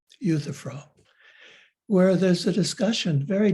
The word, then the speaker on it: Euthyphro: interested i i would recommend reading plato's dialogue euthyphro euthyphro sorry i didn't give that word to you but i'll spell it e you th y p h r o euthyphro where there's a discussion very deep discussion very